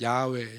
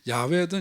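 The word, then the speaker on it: 야훼: 이게 발음을 못 하는데 가만히 보니까 성학자들이 언학적으로 보니까 이거랑 가장 가까운 음절이 뭐냐면 야외. 야외.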